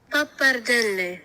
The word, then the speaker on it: Pappardelle: correctly pronounce Pappardelle. Pappardelle, Italian.